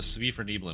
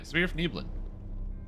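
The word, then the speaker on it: svirfneblin: So I gotta go over to the Svifer Neblin over here.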